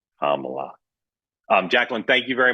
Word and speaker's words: Kamala: A lot of Republicans say it incorrectly on purpose, but it's Kamla. Kamla.